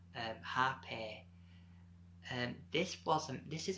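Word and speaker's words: rapé: I discovered another medicine called repair and I pronounced happy and this wasn't this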